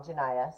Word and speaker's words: Janaya: this beautiful texture that Janae did for us I think I said it wrong Janaya sorry Janaya um my name is